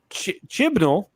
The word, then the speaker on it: Chibnall: Okay, Chibnall, and I said it right again.